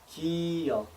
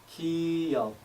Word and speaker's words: 기역: The symbol makes G and a soft K sound, as in the beginning of the word Kim, followed by the 역 sound. 기역, 기역, 기역.